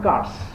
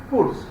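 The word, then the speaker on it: Kurtz: Okay, and Crutch or Kars, you can pronounce this in such a way. One of the agents in Congo, his name is Kars, K-U-R-T-Z, Kars or Kurs.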